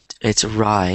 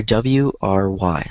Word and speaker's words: wry: It's wry. It's pronounced the same way, but it's R or W-R-Y.